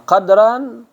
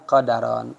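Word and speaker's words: قدر: Jadi bisa dibaca dengan 2 bunyi. Pertama qadran, wal juga qadaran.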